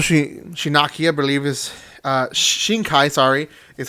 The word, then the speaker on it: Shinkai: same writer Mikoto she she Nakia believe his Shinkai sorry is how you pronounce his name so it's very popular it